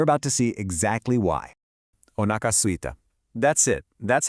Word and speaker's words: お腹すいた: The first word is 3 little beats. O-naka. And the second part is 2. Suita.